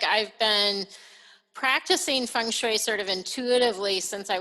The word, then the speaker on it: feng shui: saying it right you are saying it correctly feng shui yes well so why don't you start by